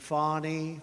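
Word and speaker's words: Fani: local attorney generals and fonnie fonnie you know fonnie spelled f a n i my name is FY F A ni I I don't figure it you put a little French Accent on the word with her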